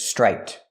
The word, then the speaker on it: striped: This word is striped, with a T at the end for the ED.